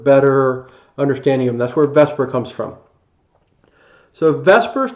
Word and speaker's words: VSEPR: okay Vesper even though it's spelled VSEPR it's pronounced Vesper and now we're going